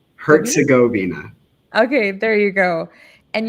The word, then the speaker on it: Herzegovina: how do you pronounce that? Herzegovina? Herzegovina.